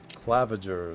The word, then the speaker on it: Claviger: Claviger is how you pronounce it.